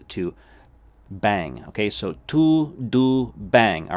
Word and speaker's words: tudo bem: bang as it literally as if you were saying like bang like bang like a all right b-a-n-g there's that n-g sound to bang okay so to do bang all right pronounce it